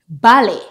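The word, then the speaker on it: ballet: and used in English if the word ends with a T we normally don't pronounce it for example balet Buffet Gourmet Rapport this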